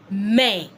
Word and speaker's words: main: You can see I did not say it. I didn't say mine or mine. I said man.